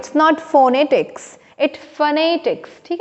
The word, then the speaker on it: phonetics: सो फोनेटिक्स, और इसका उच्चारण विथ स्ट्रेस फोनेटिक्स होगा, ठीक है ना, न कि फोनेटिक्स, ठीक है।